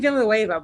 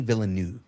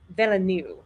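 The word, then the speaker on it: Villeneuve: Um, V I I've been saying Villoa, but I've probably got his name wrong. Denny Villanu. Villanu.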